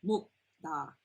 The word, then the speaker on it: 묵다: And not 묵다. Okay? 묵다. It's a DD sound.